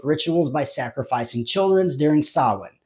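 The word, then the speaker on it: Samhain: by sacrificing children's during Sinn the Pagan C celebration marking the arrival of winter and Cochran actually pronounces the word correctly unlike Dr Lumis Sam Hayne seizing the opportunity Dr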